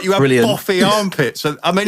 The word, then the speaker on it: Boff: Like you have boffy armpits. I mean, it was spelt B-O-U-G-H, but it's still pronounced Boff.